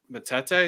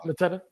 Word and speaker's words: Mateta: I was thinking of Atsen Adaro and Matete. Is that how you pronounce it? Yep, Mateta. Mateta. I think Matete is actually Jean-Philippe. Yeah, Mateta. And they did let Zaha